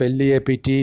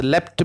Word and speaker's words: leapt: Instead of L-E-A-P-T, leaped, the poet has used leapt because it should rhyme with the leopard, leapt and leopard.